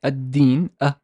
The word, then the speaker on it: الدين: Is okay, we've kind of pronounced all these words when they are word initial. It's like ad-din, ad-din.